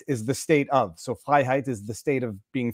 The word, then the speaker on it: Freiheit: It is phonetically Freiheit perfect. In French, we just roll the R's. We go Freiheit. But Freiheit. That sounds almost German. It is well, it's Germanic. It depends. It is of Germanic descent.